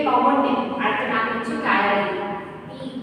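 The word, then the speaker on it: ptyalin: Name, আরেকটা নাম হচ্ছে টায়ারিন, পি সাইলেন্ট বলে। ঠিক আছে, উচ্চারণে টায়ারিন, কি উচ্চারণ? টায়ারিন। ওকে, পি ইজ সাইলেন্ট, যেমন অনেস্টে আমরা এইচ সাইলেন্ট করে দিই, সেরকমই টায়ারিন।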